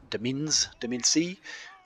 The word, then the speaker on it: Domain-C: Ironcap swords and the Domain-C, which is actually pronounced domain, spearmen and things like that, well, Ironcap gunners might be for you.